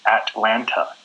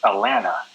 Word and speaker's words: Atlanta: A lot of us, we pronounce it as Atlanta, where we don't say the T's. We don't really pronounce them. We just say Atlanta.